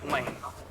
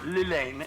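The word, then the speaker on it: Llane: No, that was Lane, or Lilane, if you feel like double pronouncing the L.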